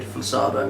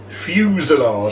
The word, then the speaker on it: fusillade: fusado, you're not pronouncing it. Fusillade.